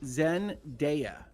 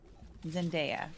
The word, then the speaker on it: Zendaya: So- It is pronounced Zendaya. Zendaya.